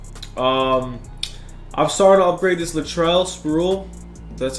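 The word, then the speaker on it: Latrell Sprewell: where is he I'm sorry to upgrade this Latrell spruill that's how you say his name he's got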